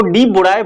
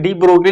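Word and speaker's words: de Broglie: साहब आए, डी ब्रोगली, इसको डी बुराए बोलते हैं, पर किताबों में डी ब्रोगली लिखा जाता है क्योंकि दूसरे देश के हैं तो प्रोनाउंसिएशन में थोड़ा अंतर आता है। तो डी बुराए बोलिए या डी ब्रोगली कहिए, एक ही बात है।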